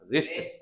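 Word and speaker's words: wrist: तो रिस्ट, ये देखिए यहाँ पे W साइलेंट है, W जहाँ पे W चुप है, W जो है चुप है, तो ये साइलेंट है, तो यहाँ पे हो गया रिस्ट।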